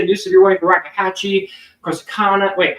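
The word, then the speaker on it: Corsicana: They just issued a new sear for Rakahache, Corsacana. Wait, how do you pronounce that? Corsana.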